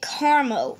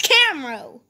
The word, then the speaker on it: Camro: That's how I'm pronouncing it. I watched Charmix and he pronounced it Carmo. It's Camro!